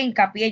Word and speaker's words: hincapié: Ahora, perdón que me falta explicar acá por qué hincapié lleva acento en la última sílaba.